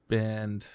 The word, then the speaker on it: Bind: Bind. B-I-N-D. I think that's how I pronounce it.